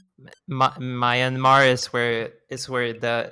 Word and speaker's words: Myanmar: i think was right mayan mar is where is where the nyan cat's enemy was born my marriage is fun to say i'm sorry i'll pronounce it it's myanmar okay and it's all